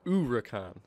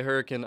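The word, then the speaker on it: Huracán: me different things, but I like to say Huracan, because from what I've been told, the H should be silent, the correct actual pronunciation, so it's like, ooh, you know, the U, kind of, the Huracan.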